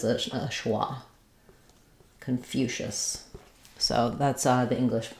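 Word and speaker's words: Confucius: a question about confucious confucious um so second syllable stress we we have the um reduce vow here so it's going to sound like K or there will be a little schah there k um and then for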